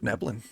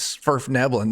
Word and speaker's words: Svirfneblin: Svirfneblin. Yeah. Yep. It's like Only it's reason- like Yeah, only. it's like Nerf nibbling.